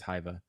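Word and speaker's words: Hyvä: It's Hyva.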